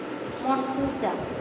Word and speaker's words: মুর্তজা: The captain is Mashrafe বিন মুর্তজা। মুর্তজা বানানটা হচ্ছে MOR, মুর্তাজা, মানে মুর্তজাকে ইংরেজিতে এভাবেই উচ্চারণ করে, মুর্তাজা, ঠিক আছে।